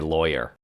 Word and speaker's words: Loya: We were saying that your last name is how um is pronounced how uh someone in Boston would say lawyer.